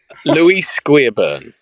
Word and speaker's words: Louis Guiabern: Louis Guiabern.